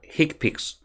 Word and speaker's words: HCPCS: code so what is hick picks hick picks stands for healthcare common procedure coding system so if you take the first letter of each word you have HCPCS pronounced as he picks hiccup is level one